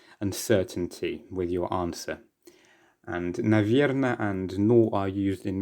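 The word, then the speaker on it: наверное: little bit of uncertainty with your answer and navierna and nor are used in many other different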